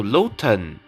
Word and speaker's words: Lotan: Oh, Lotan. It's how her name is pronounced.